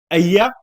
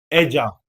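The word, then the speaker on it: ella: वहीं पे अगर शी के लिए, अब इसके लिए दो प्रोनाउंसिएशन होती है ई डबल एल ए, अय्या, एजा। जो जो मान लीजिए स्पेन में काफी कंट्रीज में एया ही बोलते हैं, य की साउंड आती है डबल एल की, बट कहीं कहीं कहीं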